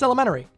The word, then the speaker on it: elementary: We kind of just skip over that middle T and pretend it's not there. Oh, that's elementary.